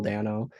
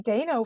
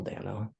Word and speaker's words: Dano: first time okay so have I been pronouncing Paul Dano wrong is it Dano it's Paul Daniel yeah right piano I've been saying Dino for for years I think I think it's Paul Dano I was gonna keep